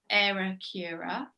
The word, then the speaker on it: Aeracura: us yeah absolutely so it's actually pronounced error cura error so if you do it slowly it's much easier and so i'll tell